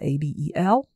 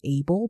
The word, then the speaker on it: Abel: My husband, his name is Abel, A-B-E-L. And the name is from the Bible originally. Some people might pronounce it Abel, but he's from a French-speaking country. So Abel.